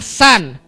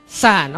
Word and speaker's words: sun: matari namanya San bacanya San saya ajarin ya Matar itu tulisannya Sun Tapi bacanya San Oke walaupun tulisannya beda